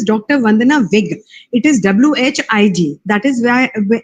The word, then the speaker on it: Whig: It is Whig. That is how we pronounce it. It's a little uncommon, but it is that way because generally it is Whig, but ours is Whig.